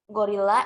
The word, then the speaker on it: gorilla: So then the intonation will be higher in the second syllable, or we are doing emphasizing in real. So gorilla is gorilla. The intonation in real is be higher, gorilla.